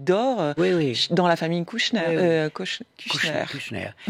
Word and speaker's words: Kushner: Kushner. Et ça se prononce comme Kushner, mais ça n'est pas Bernard. Et ça ne s'écrit pas comme ça.